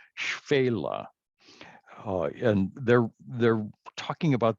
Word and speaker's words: Shephelah: pronounce that again well because people look at this and they want to pronounce it shephelah or something like that uh the modern israelis say fela and they're they're talking